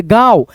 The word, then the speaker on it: गांव: एक का एक गांव इस पे चंद्र बिंदी है तो पढ़ेंगे न के रूप में उच्चारण करेंगे गांव ऐसे दोस्तों न को बोलेंगे नाक से गांव गांव ऐसे करके है ना में एक गरीब लकड़हारा लकड़हारा रहता था।